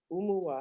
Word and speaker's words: Oumuwa: that is awesome so where does the name umuah am i saying it right yes where does